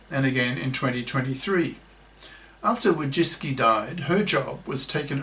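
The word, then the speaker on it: Wojcicki: The previous CEO of YouTube was the Polish American feminist woman Susan Wajiski, pronounced wo jisk key close brackets, who promoted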